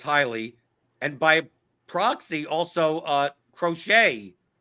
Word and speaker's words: Crochet: And by proxy, also Crochet Like in 150 lineups that I've run, I have 0 crochet, or someone says crotch rocket. It's crochet, like the knitting. It is crochet.